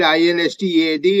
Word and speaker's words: instead: The word instead is pronounced instead, as if the letter E is not there.